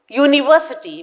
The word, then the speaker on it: university: when it comes to University we are supposed to say a university because you here is pronounced like you and this is a consonant sound so we say a